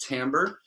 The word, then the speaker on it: timbre: is timbre and timbre it looks like timber it's a french word it's pronounced timbre that is really thinking